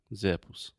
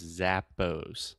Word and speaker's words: Zappos: Zappos Zappos and also we really tend to exaggerate that final o sound so a normal Brazilian without pronunciation training would probably say Zips Zippos something like that but as Zappos Zappos if you make those